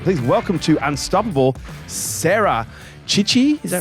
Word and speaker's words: Cichy: And it's pronounced Cichy, but we changed it to Cichy for Western purposes.